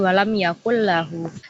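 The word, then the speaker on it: ولم يكن له: Nah, jadi bacanya itu dileburkan, dimasukkan gitu tanpa ada dengung atau di hidung, tanpa ada dengung di hidung, samar atau dan sebagainya itu. Jadi langsung melebur ke lamnya. Jadi walam yakul lahu.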